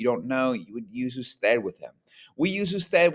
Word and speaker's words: usted: Now, it does not mean that it's pronounced ood, okay? Just like I would never pronounce the abbreviation Mr. MR period. I would never pronounce that mer. Don't pronounce ood, pronounce it usted, all right?